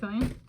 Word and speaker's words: Kylian: It's pronounced Kylian. I might have confused him with a different Kylian. No, that's interesting name for a soulmate of mine. It's kind of like Kyle plus carnelian, which carnelian is like a mineral of sorts.